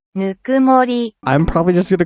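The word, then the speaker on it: ぬくもり: I wanted to name it Nukumori. I think that's how it's pronounced. Nukumori.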